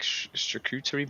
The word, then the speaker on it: charcuterie: God, and then we had this like charcuterie board. Is that how you pronounce it?